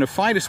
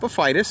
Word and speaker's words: Aphytis: So if you're interested in Aphytis wasps, what you do is look up Aphytis, and that's spelled A-P-H-Y-T-I-S, wasp, and for more information.